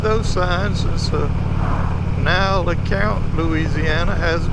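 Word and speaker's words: Lecompte: Now it ain't spelled nothing like you say it, but it's pronounced LeCount, and yet it's got a P in it, and it ends with an E.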